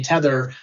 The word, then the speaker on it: Tethr: what we're doing at my company, Tether, which is spelled TETHR because we're a startup and that's how we spell things in startup land.